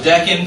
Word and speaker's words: Deccan: Sophie help her out say it loud the Deccan Plateau is how it's pronounced absolutely and so which two mountain ranges